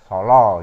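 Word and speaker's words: Sela: Tulisannya Salah. Jadi orang Jawa bacanya Solo gitu ya.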